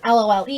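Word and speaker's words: Lolë: I always call it LOLE instead of LOL, Lola, because I feel like when I say that out loud, like people who haven't heard of the brand are gonna think of something that's spelled out differently. So I always say LOLE.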